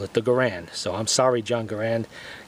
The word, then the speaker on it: Garand: as the garand and yes that's how I pronounce it garand I know there's a lot of people that